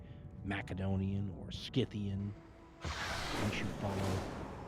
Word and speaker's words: Macedonia: I'm one of those people who've long been a heretic on the matter and pronounce Macedonia with the hard C sound instead of the more common in English soft C sound.